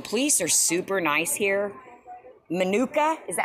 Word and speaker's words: Minooka: Minooka, is that how you say it?